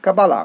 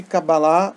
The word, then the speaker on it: Kabbalah: tarot a kabbalah e a pronúncia correta kabbalah a kabbalah eu já vi na internet assim faça um curso de Kabala a gente falar com a bala né porque a gente